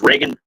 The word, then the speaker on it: Reagan: Senate, and the big house, and that is going to be Miss Reagan Box. Reagan, like Ronald Reagan is how it's spelled.